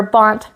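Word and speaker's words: -bant: or something like that for bont, which rhymes with flaunt.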